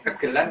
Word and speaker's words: gegelan: Tapi itu dulu jadi dasar bahasa yang Bacanya benar gegelan ya Mas? Gegelan atau gegelan? sama aja keduanya, kegelan atau gegelan sama.